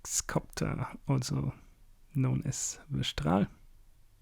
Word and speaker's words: Strahl: We have a Smuggler's Copter, also known as the Strahl. And yes, I'm pronouncing it the German way, because I can.